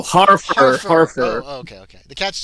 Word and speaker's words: Harfur: you looking for a Hartford wizard wils Hartford what did you say uh did I pronounce his name wrong oh Harford oh okay okay the